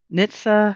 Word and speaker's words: NHTSA: It's called Nitsa. I think that's how they pronounce it.